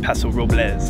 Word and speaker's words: Paso Robles: from Arroyo Grande there's Paso Robles but a lot of people try to say it with a Spanish accent so it's like Paso Robles and it's not that